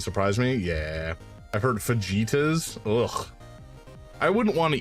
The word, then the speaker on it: fajitas: It's pronounced fajitas.